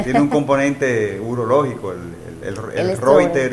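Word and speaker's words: Reiter: Y hay una variante, el Reuter, que se pronuncia Reuter, que es con uretritis.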